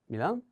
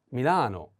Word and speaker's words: Milano: So please pay attention to this different pronunciation. Sometimes we have this city. Next. Milan? Milano.